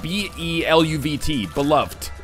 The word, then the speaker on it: beloved: Just because I find the emphasis on that last syllable, it's more satisfying to say than beloved. That's like B-E-L-U-V-T, beloved.